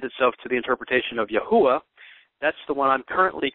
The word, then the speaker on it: Yahweh: have uh lend itself to the interpretation of Yahweh that's the one I'm currently convinced of but